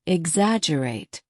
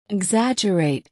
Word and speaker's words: exaggerate: exaggerate repeat after me exaggerate remember there is a double g in the spelling but we do not pronounce the G right exaggerate exaggerate excellent now what